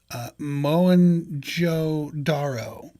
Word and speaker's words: Mohenjo-daro: And it is called, I'm probably going to butcher this, but I believe it's pronounced Mohenjo-Daro.